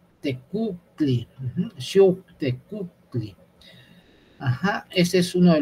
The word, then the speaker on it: Xiuhtecuhtli: Xiuh, esta es una W, es una U, pero cerrando al mismo tiempo la garganta, así como la U francesa. Es una U, Xiuhtecuhtli, igual esta. Este es una... Es una especie de sílaba muy difícil, porque es Q, es muy gutural, es una K o una C y una U francesa, todo muy gutural es esto.